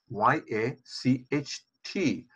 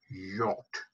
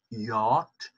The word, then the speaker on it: yacht: Okay, first, we have a word, Y-A-C-H-T, which is pronounced as yacht. Not yacht, but yacht.